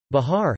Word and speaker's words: Bihar: Bihar, Hindustani pronunciation, B-A-R, is an Indian state considered to be a part of eastern and northern India.